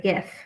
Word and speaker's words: GIF: gonna answer in a gift form and it is pronounced gif right hiding out there so